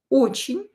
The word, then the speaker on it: очень: Again, E is not stressed. Pronounce it as I. Очень.